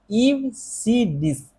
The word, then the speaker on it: EBCDIC: इसका जो प्रोनाउंसिएशन है वो होता है ईव सी डिस्क।